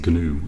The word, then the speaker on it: GNU: The G is actually pronounced in GNU, I believe.